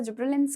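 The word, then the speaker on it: gibberellins: गिबलिंस होते हैं। कुछ लोग इसे जिब्रलिंस के तौर पे प्रोनाउंस करते हैं। Depends upon you. हाउ you want to pronounce it.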